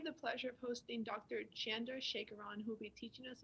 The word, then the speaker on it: Chandrasekaran: of this video with that being said dr chandra shakaran you may start when you're ready all right